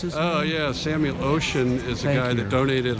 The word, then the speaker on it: Oschin: then this is the Samuel how do you pronounce it oh yeah Samuel ocean is a guy that donated a lot of